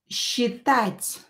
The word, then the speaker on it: считать: I will pronounce this S and Ch as считать.